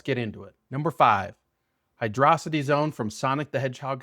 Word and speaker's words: Hydrocity: Number five, Hydrocity Zone from Sonic the Hedgehog 3. And before any of you Sonic stans start typing in the comments, yes, I know it's technically pronounced Hydro- City, not Hydrocity.